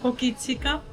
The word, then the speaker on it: Hokitika: Hokitika. Hokita.